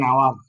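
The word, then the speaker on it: hour: এন আওয়ার, এন আওয়ার, এইচ ইউ ইউ আর, অনুচ্ছেদে এইচ বিদায় এন হয়েছে এখানে, কারণ ও তো ভাওয়েল। ওটা কি vowel? আওয়ার, এন আওয়ার, এইচ উচ্চারণ হলো না, আওয়ার, তাহলে এন হলো সেখানে।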